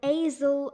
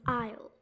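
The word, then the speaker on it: aisle: s is silent now when you remove the a and the s you get the correct pronunciation of this word you might have been might have been saying it as asel or isil but it but we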